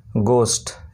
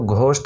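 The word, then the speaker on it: ghost: তারপরে শব্দটি দেখো জি এইচ ও এস টি, এটার উচ্চারণ হলো গোস্ট, এখানে কিন্তু ঘোস্ট উচ্চারণ হচ্ছে না, জি এইচ ঘ হয়, এখানে কিন্তু হয় না, ব্যতিক্রম।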